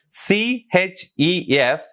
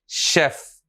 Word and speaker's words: chef: Listen, C-H-E-F. We should pronounce like chef, not chef.